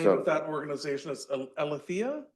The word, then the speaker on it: Aletheia: And the name So- of that organization is Alethea? Aletheia, yeah, Aletheia. the way I pronounce it, Yeah, the Greek yeah.